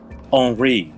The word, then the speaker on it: Henri: Henri. What the fuck? E-N is pronounced en.